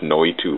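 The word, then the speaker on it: Noitu: go out and search no to love no to love n o i t wa no to this it's spelled it's Evolution spelled backwards with a break between the U and the L no we too love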